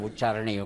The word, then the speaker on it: ಉಚ್ಚಾರಣೆ: ಉತ್ತರವನ್ನು ನೋಡು ಕನ್ನಡ ಶಬ್ದಗಳ ಉಚ್ಚಾರಣೆಯು ಕಷ್ಟವಲ್ಲ ಎರಡನೇ ವಾಕ್ಯ ಸರಿಯಾಗಿದೆ ಶಬ್ದ ಅಂತ ಹೇಳುತ್ತೇವೆ ಹೊರತು ಶಬ್ದ ಅಂತ ಹೇಳಬಾರದು ಮಹಾಪ್ರಾಣ ಬರಲ್ಲ ಹೊತ್ತು ಹಾಗೆ ಉಚ್ಚಾರಣೆ ಅಂದಾಗ ಅದು ಅಲ್ಪಪ್ರಾಣವೇ ಆಗಿರುತ್ತೆ ಮಹಾಪ್ರಾಣ ಆಗಲ್ಲ ಕರ್ನಾಟಕ ಉಚ್ಚ ನ್ಯಾಯಾಲಯ ಅಂತ ಹೇಳುತ್ತೇವೆ